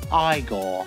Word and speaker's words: Igor: Peter Boyle, and Marty Feldman as the incorrigible Igor. Now it's pronounced Igor.